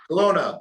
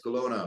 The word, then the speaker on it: Kelowna: Kelowna. It's Kelowna.